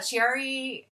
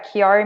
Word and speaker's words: Chiari: isn't it I know with Gerry malformation is that right yeah Chiari malformation see I always say it wrong believe many people